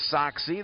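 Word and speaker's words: Sachse: SEMO had a baseball player with the last name Soxie. That's the way he pronounced it and spelled it.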